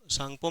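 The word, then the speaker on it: Tsangpo: सांगपो सांगपो में T silent है ना है ना यारलंग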